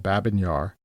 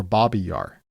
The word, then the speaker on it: Babi Yar: They dumped the bodies in a ravine in Kiev called Babin Yar, or Babi Yar, depending on how you pronounce it.